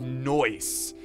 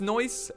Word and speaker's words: Neuss: usually always wrong but i think it's noise and it's it's like saying nice but in a very obnoxious way noise uh anyways it